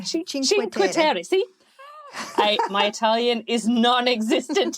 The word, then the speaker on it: Cinque Terre: I'm not going to pronounce it properly, so so you pronounce this for me, please. The 5 towns, the Cinque Terre. Oh, Cinque Terre. Cinque Terre.